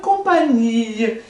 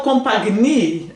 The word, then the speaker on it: compagnie: Je suis en bonne companhia. Não falo compagnie? Ah, não falo. Não falo, nem você fala também não, tá, gente? Vamos ficar combinado aqui. que GN tem som de NH.